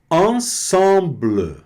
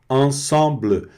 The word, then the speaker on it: ensemble: Ensemble. E aqui no caso não pronuncia a vogal final, fica o bl, né? Ensemble.